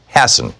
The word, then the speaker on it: Hassan: In our second hour, Stephen Hassan or Hassan, I'm not sure how it's pronounced. Hassan is how it's pronounced.